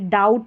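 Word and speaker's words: doubt: जैसे जी H silent B टी यहां पर साइलेंट है। डाउट में है।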